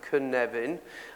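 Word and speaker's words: Cynefin: the knevan framework and this word canevan which is here this is how you pronounce it could never and he actually means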